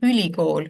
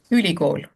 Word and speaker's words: ülikool: So in Estonian we say ülikool, which means something like super school. Ülikool. Ülikool. So it's pronounced very differently, but on paper it